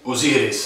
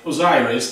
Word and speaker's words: Osiris: Or like you would say, Osiris. Osiris. That's what the Italian would say. But maybe the Americans say Osiris, but we say Osiris.